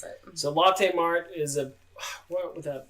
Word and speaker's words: Lotte: Latte. I think it's I didn't know it was named after Charlotte, so it's Latte.